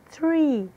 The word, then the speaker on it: tree: Significa árvore, som de T seguido de som de R, enrolado, que é a forma como se pronuncia a letra R em inglês. Tree, tree.